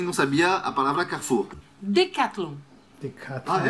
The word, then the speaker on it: Decathlon: Decathlon. Decathlon. Ah, é igual? Decathlon. Ah, they Decathlon. Have here in Ireland, Decathlon. Decathlon. Decathlon. Decathlon. Decathlon. Então é no final. Decathlon. Decathlon. Isso.